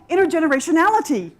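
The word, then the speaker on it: intergenerationality: we're here to build intergeneration ality i love this word it has nine syllables it's very impressive so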